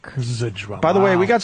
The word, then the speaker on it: Zdrok: How do you I pronounce use it this often. beautiful last name, by the way, man? Zdrok. Zdrok.